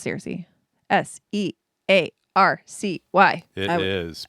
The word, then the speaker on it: Searcy: Searcy, Arkansas. I think it's Searcy.